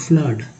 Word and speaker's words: flood: ठीक है, अब बचा दोस्तों डबल ओ वाला, तो देखिए डबल ओ FLOOD में इसको डबल ओ को अ बोलते हैं, फ्लड। यू को डबल ओ का उच्चारण अ के रूप में हुआ है तो हो गया फ्लड।